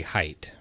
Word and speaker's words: Haidt: II as I write I would have said hate because I mispronounce everything but I think I saw on his own website that you say height so well he's Jonathan